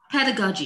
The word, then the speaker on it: pedagogy: Yeah, did I get the pronunciation right? Yeah, pedagogy, yeah, and childhood studies.